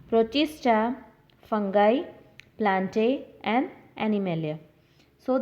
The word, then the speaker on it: Protista: So, the five kingdom classification includes Monera, Monera, Protista, Protista, fungi, Fungi, fungi.